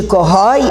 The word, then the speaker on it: corrói: Mas a tonicidade de dói e de corrói é na última sílaba. Na última você está vendo o O e o I. Eu não tenho como pronunciar doi nem corroi, então ele é aberto.